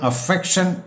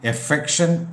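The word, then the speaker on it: affection: എഫെക്ഷൻ ആൻഡ് അഫെക്റ്റേഷൻ ഇവിടെയും പൊതുവെ അഫെക്ഷൻ എന്നാണ് പറയാറുള്ളത് എന്നാൽ അതിൻറെ ശരിയായ ഉച്ചാരണം എഫെക്ഷൻ എന്നാണ് അൻപ് മമത സ്നേഹബന്ധം വാത്സല്യം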